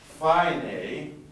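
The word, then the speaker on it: φαίνει: may does anybody remember i as in i'll a as in eight remember that that's why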